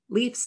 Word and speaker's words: Leif: L-A-F-E is how my brother's name, Leif's name is pronounced. Correct, that's how Icelanders say it, but Norwegians say Leif. Leif, yes. Like Lever. Lever.